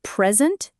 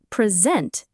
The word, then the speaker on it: present: The verb present has the stress on the second syllable sent. This means scent is longer, louder, and often slightly higher in pitch. The first syllable pre is unstressed. So, its vowel is reduced to awah uh or a short i sound. So, it's present or present.